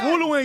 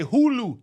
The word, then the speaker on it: Hulu: Yeah, but them they say Hul. They don't say we say Hulu, not Hul. That's why Hulu don't want Hulu doesn't